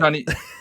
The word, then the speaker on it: Johniibo: Yes, you are saying that right, and you were right. I've been lurking in this chat, and you said it right, and you got the reasoning behind the name right. It is like Amiibo.